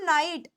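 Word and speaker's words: night: sound हो जाती है जैसे मैं लिख ती हूं नाइट जी एच आ रहा है नाइट के अंदर है ना लेकिन यहां पर ये जी एच साइलेंट है लेकिन अगर मान लो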